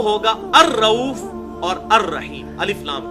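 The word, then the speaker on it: الرؤوف: तो अल्लाह के लिए आएगा तो अर रऊफ अलिफ लाम के साथ, लाम बीच में साइलेंट हो जाता है क्योंकि रॉ आया उसके बाद।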